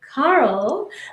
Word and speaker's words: Cahill: a little bit so uh welcome Carl I just found out how to pronounce your last name the right way so